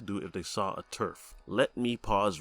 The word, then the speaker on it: TERF: if they saw a Turf let me pause right there to some of you that might not have ever heard the term Turf it's spelled t-e-r-f not t-u-r-f and it means trans-exclusionary